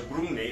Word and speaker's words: Grungni: I looked at the pronunciation of that just before I recorded this video, so that's why it was so deliberate, that pronunciation. So Grungni is a great maker.